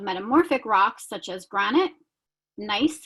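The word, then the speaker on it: gneiss: rocks such as granite nice which is g-n-e-i-s-s pronounced nice chest and marble so the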